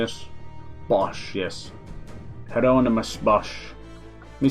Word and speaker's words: Bosch: Bosch, yes.